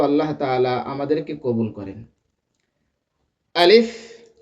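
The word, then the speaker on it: ألف: আলিফ আলিফ আলিফ আলিফ আলিফ আলিফ সম্মানিত দর্শক এ আলিফ উচ্চারণের সময় কোন টান হবে না। মুখের ভিতর থেকে হালকা বাতাস বের হবে।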